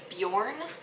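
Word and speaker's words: Beorn: Alright, so my newest favorite character was, I think it's pronounced Bjorn. It's like B-E-O-U-R-N from the Hobbit.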